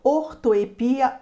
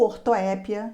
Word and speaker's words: ortoepia: consonantais, separação de sílabas, ortoepia ou ortoépia, essa palavra tem dupla pronúncia, e prosódia.